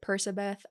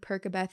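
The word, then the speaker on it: Percabeth: I know some people pronounce it Persabeth. I think Perkabeth is more fun to say because it sounds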